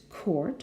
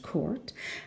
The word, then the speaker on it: court: It's even got a tennis court, court, with the R very much pronounced, court.